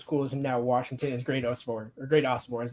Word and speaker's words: Great Osobor: And obviously, the one correlation that you have with both those schools and now Washington is Great Osobor is the correct pronunciation on that.